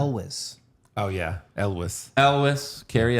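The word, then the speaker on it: Elwes: what's his name again Carrie how do you pronounce his last name Elis oh yeah Elis Elis Carrie Elis love him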